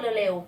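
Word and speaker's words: 礼: เก่ง มาก ค่ะ แต่ วิธี การ ออก เสียง ให้ เหมือน คน ญี่ปุ่น นั้น เขา ก็ จะ พูด เร็ว ๆ อย่าง เช่น เ อิ เป็น การ รวบ เสียง ให้ พูด ว่า เร เร เริ ก็ จะ กลาย เป็น คำ ว่า เร เหมือน ชื่อ ขนม ยี่ห้อ นึง อ่ะ นะ คะ เร อ่า นี่ ค่ะ เป็น การ ออก เสียง แบบ ญี่ปุ่น ซึ่ง คำ ว่า เร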